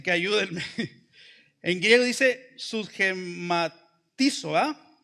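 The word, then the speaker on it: συσχηματίζω: En griego dice susgematizo, lleva acento en la I, susgematizo.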